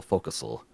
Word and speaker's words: forecastle: I got a little thrill when she pronounced forecastle focusal.